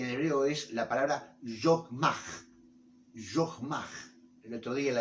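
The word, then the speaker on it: חכמה: donde dice que en hebreo es la palabra yogmaj.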